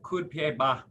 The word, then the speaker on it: coup de pied bas: So it's, when you spell it out, it's coup de pied bas, but when the French say it, it just rolls into like one word, coup de pied.